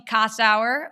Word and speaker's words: Kossower: in cannabis podcast very excited to have casau who by the way uh we were just